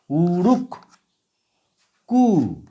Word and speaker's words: উড়ুক্কু: উচ্চারণটা এরকম হবে। উ রুক উরুক কু উরুক্কু উরুক্কু যে উঠতে পারে বা উঠছে উরুক্কু মাছ উড়তে পারে উড়তে পারে এরপরে লিখবো একক্কা।